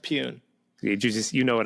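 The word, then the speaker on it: Pyun: you say his name it's pronounced peun you just you know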